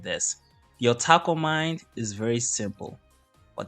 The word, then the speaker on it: otaku: once said this: "The otaku mind is very simple, but that simplicity can be good." And to me, the simplicity is basically taco mind. No, so otaku, not taco.